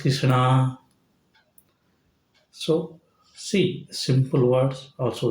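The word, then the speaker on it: कृष्ण: It is not Krishna. It is Krishna.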